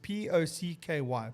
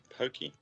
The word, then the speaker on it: Pocky: is that pokey well i thought at first when i saw it was pokey day and i thought that's quite quite quite great because it's singles day and it's pokey day at the same time i was like okay that works but i don't think that's how you pronounce it i think it's pocky days p-o-c-k-y yep do you